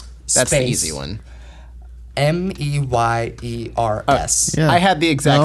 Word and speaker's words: Mayer: But no, it's all in Mayer. the Oscar Mayer, but you pronounce it Meyer.